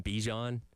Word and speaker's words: Bijan: I've always called him Bijan, Yep. but he clarified it as Bijan.